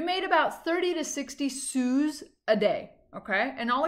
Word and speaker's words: sou: Okay, you would pronounce it a sou.